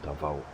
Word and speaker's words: Davao: And then we go to the beautiful Davao.